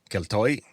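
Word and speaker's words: Keltoi: And so the Greeks simply borrowed their spelling which borrowed their pronunciation and they used the Greek letter that looks like a K. Ketoy was what they called them.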